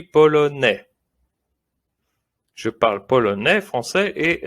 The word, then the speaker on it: polonais: Look at polonais with the boy. Je m'appelle et je suis polonais. Suis. We don't say the S at the end, you see? Suis. Polonais. It's like it doesn't even exist, but we write it.